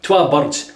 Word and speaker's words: Twa Burds: See, they spell it with a U. Burds. Burds. You're getting a good Scottish lesson here. Twa Burds. See, in Glasgow, in Glasgow, they speak like that.